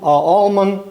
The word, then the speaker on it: Almond: It's it's Almond. I never heard of it, but I I came up with an all almond almond. And the L is silent uh micrometer and they were in Massachusetts.